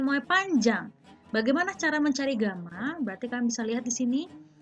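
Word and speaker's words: γ: ini mirip Alfa Tapi dibalik Hai Bacanya adalah Gama he Bacanya adalah ga jadi Kalau pemuaian volume fenol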